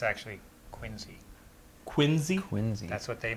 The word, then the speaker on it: Quincy: uh Quincy Quarry right down here it's actually Quincy Quincy Quincy that's what they made sure that everybody said that's how they pronounce it that's that's how Emma would say